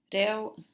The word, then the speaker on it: reo: Reo, as in dead eel. L, the EO is a ill sound, very much like a lazy English pronunciation of eel.